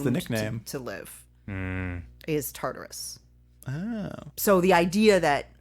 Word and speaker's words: Tartarus: beyond hell well i know it's also correctly pronounced tartarus oh thank you tartarus no no no they called it tatarus taurus on the show but it's tartarus i don't know is it i wrote antarctica